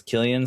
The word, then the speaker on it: Cillian: pronounce Cillian's name, and I have found out it's Cillian, so I will not